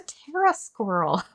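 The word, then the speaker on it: Pterasquirrel: see what is a tera squirrel sorry got distracted Tera squirrel it's it's spelled PT R A so pterodactyl but teras squirrel a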